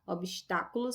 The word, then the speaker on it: obstáculos: proparoxítonas sem exceção tá obstáculos é uma palavra proparoxítona olha que a terceira sílaba de trás na frente a tônica bom então é uma